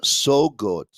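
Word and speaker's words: Søgaard: it's ann rasmussen camilla saugard heidi walter and you know what i have learned through pronunciations that it's camilla so good i believe uh heidi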